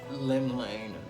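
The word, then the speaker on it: Llymlaen: Lim Lane, that's how you pronounce it.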